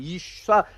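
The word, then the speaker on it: אִשָּׁה: 이쉬라고 하는 말이고 그 다음에 여자는 뭐냐면 이샤, 이 발음이 좀 어려운 쏴, 예. 쉬에다가 아가 붙어야 돼요.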